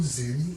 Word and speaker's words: Xenny: Or in short, Zeni.